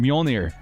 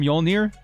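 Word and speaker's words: Mjölnir: how to say it i'm a thor fan mjolnir the bridger of lightning we're going to call him mjolnir we're going to teach the entire uh uh l.a fan base how to say mjolnir i dig it more thenian it was cam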